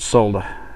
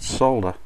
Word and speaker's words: solder: they seems to be the Americans and Canadians pronounce it solder s solder quite sure where they do that just totally leave a letter out of your word anyway